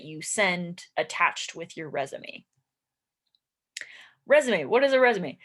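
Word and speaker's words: résumé: because it's French we we took this French word and we use it in English um and it looks like the word resume like resume the movie and it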